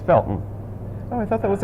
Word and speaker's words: Felton: felton but if you're from there you don't pronounce the harty it's felton oh i thought that was a connecticut thing